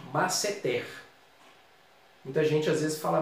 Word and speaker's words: masseter: Um músculo facial, a pronúncia padrão dela, a tônica é a última, masseter. Muita gente às vezes fala masseter, mas a pronúncia padrão é essa.